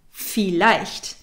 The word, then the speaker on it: vielleicht: Vielleicht. The V in German is pronounced like an F.